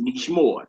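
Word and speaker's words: נשמור: You see a noon plus shamar, and it's pronounced nishmor.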